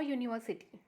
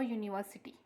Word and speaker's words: university: used here a, because these words begins with u, but the pronunciation is of consonant sound. For example, y. That's why we have used here a, like a university, u.